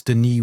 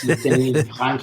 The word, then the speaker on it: Denis: By the way, it's Denis with a silent S because he's Canadian and French. Yes, Denis.